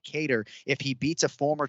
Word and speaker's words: Kattar: hey for 50 bucks pronounce calvin's last name correctly right now cater i am sending you that 50 because you said guitar last time you know ian parker's